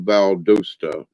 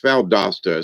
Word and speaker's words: Valdosta: ladies and gentlemen and welcome to valdosta when it's valdosta so he's mispronouncing it and all all in the audience are laughing because nobody ever down you got to be from the south to pronounce these words right right so here's